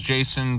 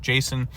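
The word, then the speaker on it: Jecen: by the Jason Jayson Jason. I'm going to say Jason's how you pronounce it j e c e n.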